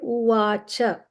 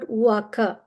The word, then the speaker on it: Uvacha: Same way, Uvacha. It's not Uvaka. CA is always pronounced as CHA, cha. These are the rules of transliteration from Sanskrit to English.